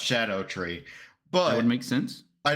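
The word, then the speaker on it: Scadutree: note so apparently that's weird fantasy Welsh for shadow so it's actually pronounced Shadow tree but that make sense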